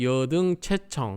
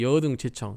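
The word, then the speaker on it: 汝等諦聽: 원래는 이제 체청이라고 읽는다고 앞에서 얘기했죠. 살필 체자니까 자세하게 들어라 그 말이에요. 자세히 들어라. 자세히 들으라니까 여등 체청 이렇게 해야 되는데 여등 제청 이렇게도 많이 하시는 것 같아요.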